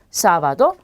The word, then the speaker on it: sábado: 그래서 전부 다 쌍시옷으로 발음이 되고요. 쓰로 발음되기도 하죠. 그래서 여러분들은 편한 발음으로 그대로 해주시면 돼요. sombrero, sábado, siempre 이렇게요.